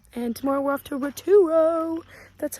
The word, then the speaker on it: Rotorua: And tomorrow we're off to Rotorua.